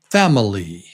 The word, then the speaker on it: family: Here, so it looks like family, but it's pronounced family. You don't even hear this. You can't even hear this. It's just family. It's almost like family.